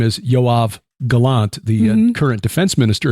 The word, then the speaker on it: Yoav: patriarch but it's uh the same name as yav Galant the current defense minister of Israel that's the name yav j OAB B yoav is how you pronounce it yav spells his phonetically y o